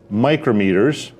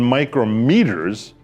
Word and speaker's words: micrometer: And speaking of microns and micrometers, let's look again at this micrometer. A word that happens to be spelled the same as micrometer, but pronounced differently.